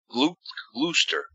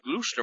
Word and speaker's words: Gloucester: and they pronounced Gloucester good I can't even mispronounce it rooster you know where all the fishermen are glad Lou Lou stir we're going down to Gloucester Massachusetts oh why don't you just call it